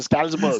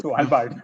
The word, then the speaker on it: Svalbard: I can't even pronounce it. Stalsberg. Svalbard.